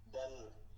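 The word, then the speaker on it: ذال: আলিফ তা জি আ জাল জাল জাল নাই জাল জাল নরম করে জাল জাল জাল জাল জাল নরম করে জাল জাল জাল র যা সিন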